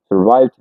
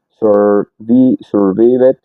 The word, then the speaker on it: survived: La idea es que casi nunca pronuncies la e. Por eso mira que es, no es sur survived o algo así, sino survived, no se pronuncia la e.